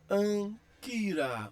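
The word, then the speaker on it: ἄγκυρα: Então, nesse caso aí, eu vou ler Anquira ou Anquira, Anquira.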